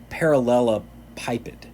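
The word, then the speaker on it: parallelepiped: always struggled with this word but it's a parallelopipet is how you pronounce it i just can't say it very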